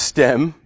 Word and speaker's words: STEHM: with an H yeah so it's just pronounced stem or if you choose